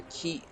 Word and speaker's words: Ki: So ki is, you don't want to pronounce it kai, or who would do it? Who would pronounce it kai? It's ki. It's a short K and the short I, ki.